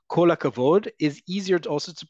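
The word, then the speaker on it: כל הכבוד: So, yes, it's kol hakavod, but in everyday Hebrew, you're going to hear people say kol akavod. It all elides together.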